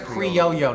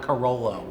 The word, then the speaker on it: Criollo: I almost said creo cuz a lot of people So it's pronounced creoyo, not corollo, right? In Spanish the double L is a Y and actually it should be Cooo.